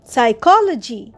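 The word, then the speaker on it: psychology: বইগুলো আলমারির মধ্যে আছে সাইকোলজি পি এস ওয়াই সি এইচ ও এল ওজি ওয়াই সাইকোলজি এখানে কিন্তু পি সাইলেন্ট সাইকোলজিশি স্টাডিং সাইকোলজি ট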